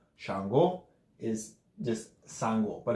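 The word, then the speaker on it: Changó: do you pronounce that the emphasis the accent mark is on the oh it's not changwu its Chango stretch the the last oh not the first a Chango not django django the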